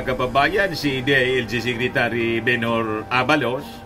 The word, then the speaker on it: Abalos: sabi po ni bhor Abalos Abalos pala ang pagpronounce nian bor Abalos Hindi ko